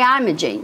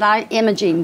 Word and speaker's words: Imogene: her name was when she didn't say I'm a jean she said I am a gene coca Imaging so this